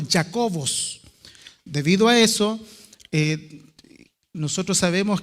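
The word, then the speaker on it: Ἰάκωβος: escrito en griego y en griego el nombre de Santiago se se pronuncia como jacobos debido a eso Nosotros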